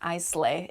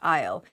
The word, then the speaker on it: aisle: in the word isle but it is not pronounced i slay it's pronounced i'll isle with an a in front is the